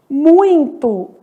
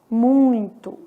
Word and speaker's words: muito: E aqui, ó, vamos colocar são, pronunciado pelo nariz, muito, que é um ditongo que nasaliza esse i, né, muito. Então, são, muito, pronunciados aí pelo nariz, vamos colocar mais um, coração.